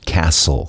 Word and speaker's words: castle: Olha a pronúncia. Castle. Esse T não é pronunciado.